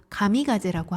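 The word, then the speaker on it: 神風: 그래서 얘네들이 그때 당시에 그 태풍을 신이 주신 선물이다, 신이 주신 바람이다 해서 신풍이라고 하는데 그걸 일본어 발음으로 가미가제라고 합니다.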